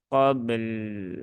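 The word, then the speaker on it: قبل: itu harus ditunaikan tawasutnya yaitu di huruf lam Min qobl ya qobl Nah ada l-nya begitu Nah nanti akan lebih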